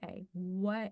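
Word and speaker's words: Waiuku: pronounce this badly but it's spell w a i r u a Wu like the beef that you eat really expensive okay I just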